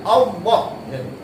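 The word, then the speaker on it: الله: Dan kemudian hebatnya nama Allah ini dibaca dengan istiqlaq. Istiqlaq ni maksudnya dibaca dengan bacaan tebal, Allah.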